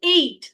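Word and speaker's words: ate: এটার প্রোনাউন্সিয়েশন আপনারা অনেকেই ভুল করেন, অনেকেই বলেন যে আই, প্রোনাউন্সিয়েশনটা এভাবে করে উচ্চারণ করেন যে আই এট a burger. No, উচ্চারণটা হচ্ছে এইট। আমরা 6, 7, 8 যেরকম উচ্চারণ করি না, ওই টাইপের।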